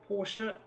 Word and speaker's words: Porsche: Gabriel Rousseau in the Trigon Racing Porsche. Used to say Porsche until Porsche came out with that advert telling us how to say it properly.